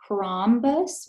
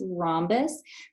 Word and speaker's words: rhombus: air Square trapezoid trapezoid rhombus rhombus that's a silent H right there just like Miss Lawson